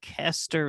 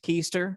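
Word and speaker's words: Koester: listening and not watching kester is spelled k-o-e-s-t-e-r not pronounced keister right that's something else craig caster k-o-e-s-t-e-r all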